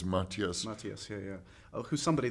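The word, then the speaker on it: Matthias: definitely um and Maas am I corre correctly pronouncing his he doesn't mind how you say it but it's Mattias Mattias yeah yeah who's somebody that I think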